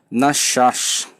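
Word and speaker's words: נחש: Nachash, pronúncia hebraica, ok? Nachash.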